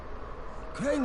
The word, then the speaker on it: Crane: my name is crane crane rhymes with train and pray and say and clean and rain and play and the other kind